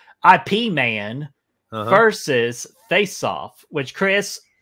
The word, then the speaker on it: Ip Man: would appreciate this pronunciation, IP Man versus Face Off, which, Chris, I'm letting you know, this is not a draft beer man. This is Ip Man, the Kung Fu master if I trained Bruce Lee.